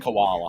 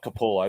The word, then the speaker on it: Capullo: I can't pronounce his name. Koala. Capullo. No, it's not koala.